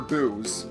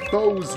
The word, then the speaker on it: Bow: Oh, Boo, Lady Bo's really going to flip out on us. Some people pronounce it Bo, others pronounce it Bow. I think Bo is the proper pronunciation.